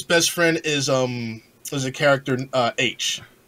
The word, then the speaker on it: Aech: Obviously, Wade, his best friend is a character H, spelled AECH, but it's pronounced H. It's like just a letter.